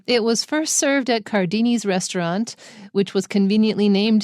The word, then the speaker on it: Cardini: Wow, his name is difficult because you see CA and you want to pronounce it K. So the first one is and the second one is K, but they're both CA.